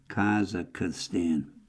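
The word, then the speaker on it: Kazakhstan: alongside erecting with ugly dimensional of imperial Russian and Soviet policies in Kaz Kaz I had trouble pronouncing it. Kazakstan K A Z A Kh S T-n Kazakstan.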